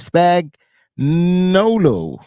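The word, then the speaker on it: Spagnuolo: Merritt is a longtime trusted assistant for Steve spag noo his name wrong no no no you said it right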